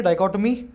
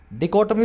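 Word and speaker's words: dichotomy: अब ये वर्ड को देखेंगे, डाइकोटमी, डिकोटमी बोलते हैं, डाइकोटमी बोलते हैं, दोनों तरह की प्रोनाउंसिएशन है इसके।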